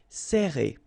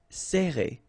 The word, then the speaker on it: serrer: Alright, so interesting here because you get this E and then double R after that. So it will open the sound of E, okay? So you will pronounce it like E. Serrer.